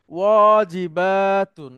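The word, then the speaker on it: واجبات: সবাই একটু মনে রাখবেন ওয়াজিবাতুন একটু টান আছে ওয়াজিবাতুন মানে হলো হোমওয়ার্ক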